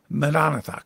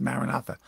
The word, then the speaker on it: maranatha: their slogan of maranatha the aramaic term madonnatha commonly in the english pronounced maranatha lord come they lived